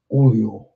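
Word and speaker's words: Orléans: It is pronounced Orleans.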